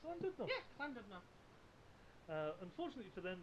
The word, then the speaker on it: Llandudno: Do you want me to read that so I can say how to pronounce it? Llandudno. It's Llandudno.